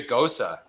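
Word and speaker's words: Gose: a ghosta it's a ghosa and let me tell you dude it's called dude google goes it's g it's like it's you pronounce it like knows okay but with the g and then you uh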